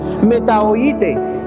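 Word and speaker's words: μετανοήσατε: No, les dio, esta palabra en el griego, en el original, se escribe metanoasate. Se pronuncia metaoite.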